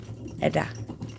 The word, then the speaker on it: Edda: But if you want to know, just pronounce it like Eddie. Wonderful, but with a Edda.